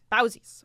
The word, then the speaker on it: Bauzis: Is that how you say his last name? I want to make sure. Bauzis. Okay, I will say it right. By Carlos Bauzis.